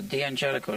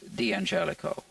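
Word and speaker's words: D'Angelico: he did pronounce it the Angelico and it's just Americanized so technically speaking it's dangelico the Mario is the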